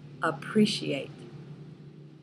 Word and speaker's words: appreciate: the schwa in appreciate there are four syllables and the schwa is in the first syllable ah appreciate number two esteem a